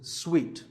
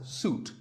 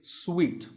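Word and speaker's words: suite: second syllable so hotel a related word is sweet this means a set of connected rooms in a hotel and this is wrongly pronounced by many people as soot but it's sweet like when you eat a piece of candy sweet and while we're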